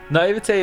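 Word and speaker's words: naïveté: Naivete is such a strange spelling. The sound at the end is an A.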